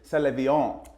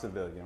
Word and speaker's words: Sevillian: Salvon, but it's actually pronounced civilian.